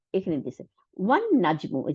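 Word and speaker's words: والنجم: আমরা উচ্চারণের সময় ওয়া আল নাজমু বলতে পারতাম, তাই না? কিন্তু তা বলি নেই, কেন? কারণ সোলার ওয়ার্ড, শামসি ওয়ার্ড, এই ওয়ান নাজমু।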